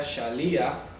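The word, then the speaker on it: שליח: es la palabra hebrea shalia sh shalia se pronuncia así con tilde en la i nunca vayan a decir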